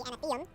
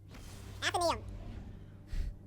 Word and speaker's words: Athenaeum: in this area, the Anatheum. No, that's not it. I forget how to say it. Athenaeum. I'm going to shorten the gaps here of the comedy. I forget how to say it. Athenaeum. You'll activate and deactivate which ones you want in this area, the Athenaeum. Athenaeum. Yeah, I was right.